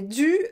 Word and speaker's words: dû: Alors, no difference in the pronunciation, it's dû.